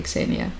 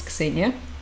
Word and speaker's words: Ksenia: for you, basically, but it's actually Ksenia. So Zena was my nickname when I was teaching in Japan. It was easier for my Japanese students to pronounce. Yep, it's Ksenia, exactly. Although in the Western Ukrainian